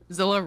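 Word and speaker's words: Zillah: of the valley now Zillow rhymes with Selah kind of does all right so I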